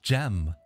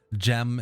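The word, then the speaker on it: Cem: Turkish half Scottish so gem is a pretty common name in Turkey um it spelled c-e-m and it's pronounced like gem like a gemstone or you know gem like a g or a j and uh yeah that's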